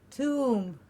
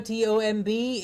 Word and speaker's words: tomb: tomb two please remember t-o-m-b is not tom it is tomb t-o-m is tom the name of a boy tom t-o-m-b is too it's a long-term commonly mispronounced very very commonly most of the people say tom tom instead of tomb so please remember it's not tom it is two the next one is